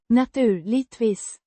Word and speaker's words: naturligtvis: Pronounced. Naturligtvis. With a slight stress on the first syllable of. Naturligt.